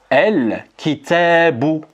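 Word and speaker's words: الكتاب: Et on dira El kitabu.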